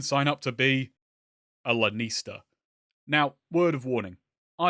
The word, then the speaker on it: Lanista: up to be a Lanista. Now, word of warning, I have an accent. You may have noticed. I'm going to be talking fast and I will wind up pronouncing this as Lannister. So when I do that,